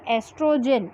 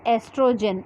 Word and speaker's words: estrogen: children remember always here estrogen it is not called oestrogen okay o is silent here so the name of hormone is estrogen only okay here estrogen which